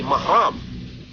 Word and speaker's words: mahram: Dengan begitu, kata-kata muhrim yang sering diucapkan masyarakat dalam konteks ini tidaklah benar. Yang benar adalah mahram.